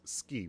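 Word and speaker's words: 好き: Just the same thing like ski is pronounced suki, but it's ski when it's said.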